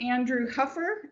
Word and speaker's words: Andrew Huffer: anyway and today I'd like to introduce um Andrew Huffer is that how you pronounce yep he uh is a board certified